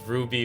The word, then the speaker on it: RWBY: important to the story the show is Ruby but it's spelled r-w-b-y because it's red white black yellow and you know each of